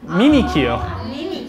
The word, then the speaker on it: Mimikyu: Okay, so in English it's Mimikyu, and then in Japanese it's Mimikyu.